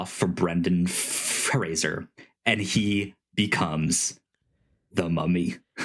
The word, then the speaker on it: Brendan Fraser: It's Brendan Fraser, not Brendan Fraser.